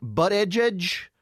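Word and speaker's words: Buttigieg: there's butter judge Pete but a judge yeah that that's that's how everybody says pronounce his name but edge edge Pete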